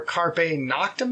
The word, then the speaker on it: Carpe Noctem: Also, so we got a CD by good friend Brian Baltimore, Carpe Noctem, is that how you say it?